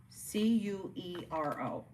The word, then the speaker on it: Curo: It is called the Curio, but it's spelled weird. C U R O.